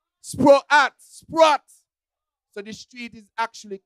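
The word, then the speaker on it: Sproat: And because us as Kittitians like to just shorten things, we say Sprott instead of Sprott. Sprott.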